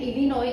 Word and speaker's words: Illinois: अब Illinois बेटा इसको pronounce करते हैं Illinois, इसमें S है which is silent.